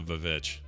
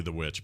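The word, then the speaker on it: VVitch: guys should watch the vovich it's really the witch but it looks it smells like it's spelled the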